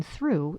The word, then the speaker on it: through: The GH in through is silent."